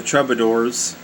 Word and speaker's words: troubadours: You know, we're on the subject of the troubadours. That's spelled, you know, trub, like trouble, and the rest of it is A-D-O-U-R-S. Troubadours.